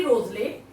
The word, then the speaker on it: Wriothesley: Henry रोजले को इनका जो है W से स्टार्ट होता है, लेकिन प्रोनाउंसिएशन होता है इसका Henry रोजले, third earl of Southampton.